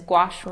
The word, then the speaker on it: gouache: art World consistently so a fun way to remember how to say it is gouache rhymes with squash is not exactly like